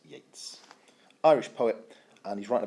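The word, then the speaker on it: Yeats: inish free by William Butler Yates spelled Yates pronounced Yates Irish poet and he's writing about an island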